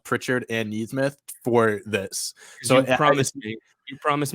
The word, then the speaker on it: Nesmith: Even Nesmith or Neesmith. I think it's Neesmith. It's Neesmith, because when I was